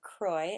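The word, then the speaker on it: kroj: example when girls reach womanhood they make a croy as it is pronounced which is an embroidered and very individualized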